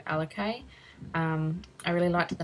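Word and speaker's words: Alikaye: two cute little girls names put together and pronounced alakay a-l-i-k-a-y and for a boy well we might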